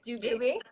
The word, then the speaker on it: Dube: just quickly introduce how do you say your last name though because I always forget what your it that's okay do do be yeah okay it's just